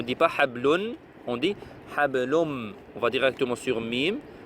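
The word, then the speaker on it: حبل: Le noun ne se prononce même pas en fait.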